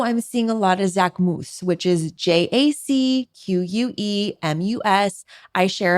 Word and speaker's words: Jacquemus: It's called Jacquemus, which is his name, which is the correct pronunciation.